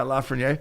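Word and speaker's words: Lafrenière: Lafreniere. You got it right. Yeah, Lafreniere.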